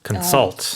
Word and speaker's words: consult: And the stress is on the second syllable. Consult. That's right.